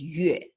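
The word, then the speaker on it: 月: But then the pronunciation, the sound for this symbol is yue, okay?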